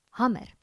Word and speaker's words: hamer: Hammer. En vanuit die uitspraak van die woord is dit dus verstaanbaar dat sommige mense verwag die m verdubbel.